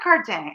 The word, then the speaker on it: Cardin: Pierre Cardin, you don't pronounce the N. You don't do that. So it's Pierre Cardin, Alan.